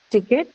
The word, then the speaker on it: ticket: Hence, ticket, the first in the word ticket is aspirated. So it's ticket.